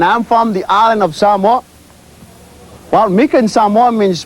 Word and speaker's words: Samoa: Samoa. Most people will say Samoa. The right pronunciation of the word is Samoa. Okay? So it's not Samoa, it's Samoa.